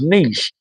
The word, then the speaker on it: niche: Yeet, the pronunciation is niche.